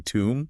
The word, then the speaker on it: tomb: And finally tomb. Like where someone is buried. That O sounds like the oo in food or moon. Tomb. Bomb. Tomb. Wow. Same spelling pattern. Three different sounds. Crazy, right? Silent B in all of them, though.